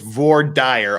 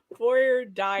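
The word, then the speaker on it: voir dire: Otherwise, it's Vor Dyer all the way, baby. Exactly. Vor Dyer, which is how Elaine says it. That's how we say it in Utah and Idaho, so the rest of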